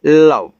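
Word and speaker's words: love: एल ओ वी ई इसको पढ़ेंगे लव।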